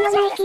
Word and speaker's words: ニケ: ちなみに靴のブランドの方のナイキも元ネタは同じなのよねギリシャの神話でニケという勝利の女神がいるけど読み方はニケでもない気でも正解らしい